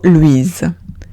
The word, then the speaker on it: Louise: Siguiente palabra es Louise. Louise. Veo una O-U-I. La pronuncio oui. La S entre dos vocales se pronuncia Z. Y digo Louise.